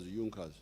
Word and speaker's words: Junkers: pressure junkers it's written in junkers but they pronounce it as jungkas these were big producers i think of farm